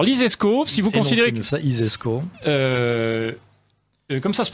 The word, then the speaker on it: ISESCO: alors lesz-y alors l'ISESCO si vous considz ça isesco euh comme ça se prononce hein i euh is e donc si